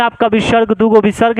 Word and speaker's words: विसर्ग: एक में आपका विसर्ग, दूगो विसर्ग है, एक में नहीं, इसको विसर्ग बोलते हैं और इसका उच्चारण ह होता है, अस्थ।